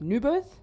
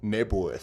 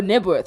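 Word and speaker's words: Knebworth: do you say that, Newburth? Nebworth. Oh, Nebworth. Excuse me, The Brit. K is silent.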